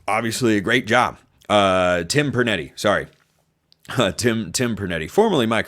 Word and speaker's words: Pernetti: a really impressive job by, I think Tom Marinetti is how you pronounce the name of the American Conference Commissioner. And I think he did obviously a great job. Tim Pernetti, sorry.